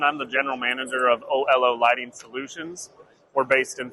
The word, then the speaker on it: Oelo: and we are at Olo is that how do you pronounce this oo o oo like hello oh that's I I like